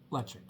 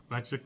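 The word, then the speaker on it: Ledaig: le le now called it is called leic yes yeah leic nine-year-old and this what's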